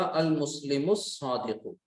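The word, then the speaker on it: المسلم الصادق: हक का खौफ अजब गम नहीं है, यानी स्वाद उस सेंटेंस में नहीं आता, लिहाजा यहाँ पर आपने लाम को प्रोनाउंस नहीं किया, तो आपने क्या पढ़ा, अल मुस्लिमुस सादिकु, ठीक है।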